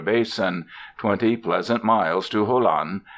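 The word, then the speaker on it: Jolon: 20 Pleasant miles to Holan they pronounce it holon where is the nearest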